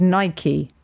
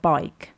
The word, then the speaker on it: Nike: Just like Nike is Nike, not bike.